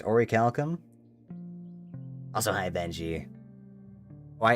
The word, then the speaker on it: Orichalcum: Do you pronounce the C at the end? Orichalcum? Or check your crafting recipes. How do I check my crafting recipes? Orichalcum. It's Orichalcum?